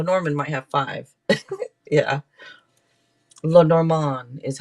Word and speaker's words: Lenormand: card where La Norman might have five yeah La Norman is how you say it but La Norman